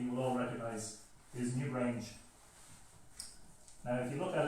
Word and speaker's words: Newgrange: And the new grange should actually be pronounced in French, should be la Newgrange.